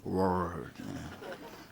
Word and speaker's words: word: 발음을 좀 차이가 납니까? 이거 안 그러면 똑같이 말해버립니다. 그래서 Preach the word. 혀가 안으로 word.